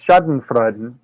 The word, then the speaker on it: Schadenfreude: And the word that designs that, it's pronounced Schadenfreude. It's a German word that literally translates to harm joy.